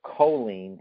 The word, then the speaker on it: choline: a 2013 study and it revealed that the choline and that's spelled c-h-o-l-i-n-e it's it's a molecule the choline